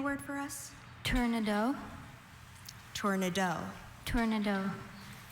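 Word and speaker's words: tournedos: Tornado. Tornado. Are there any alternate pronunciations? I have just tornado.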